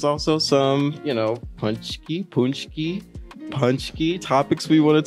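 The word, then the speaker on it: pączki: teach them how to say it first say punchki they are a um pastry that is made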